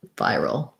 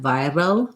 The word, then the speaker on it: viral: viral has uh the american r sound so you have to make sure that you have a tight back tongue build from the r to the dark l and then you have your vi syllable viral um if you're noticing that they seem the same to you you're probably using a flap instead of an american r your tongue is going forward like viral a little like a